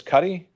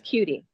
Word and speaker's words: Cuddy: Is it Miss Cuddy? It's Cutie. Cutie, excuse me.